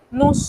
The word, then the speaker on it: nous: Nous sommes. Nous sommes. Así de sencillo. Ahora, quiero que observen, normalmente nous, la S no se pronuncia. En realidad no se pronuncia.